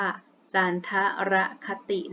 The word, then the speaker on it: จันทรคติ: ปี ตาม ระบบ จันทรคติ คำ นี้ อ่าน ว่า การ ธระ คติ นะ คะ การ นับ วัน เดือน